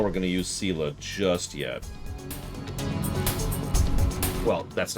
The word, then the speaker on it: Sela: Sela is how it's pronounced.